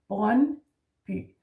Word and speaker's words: Brøndby: Also with the Y, by the way, yeah, the Y, that Brøndby. The D is silent here, and the D, the